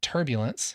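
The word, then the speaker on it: pTurbulence: has a PT so I call it turbulence because the p is silent just like pterodon right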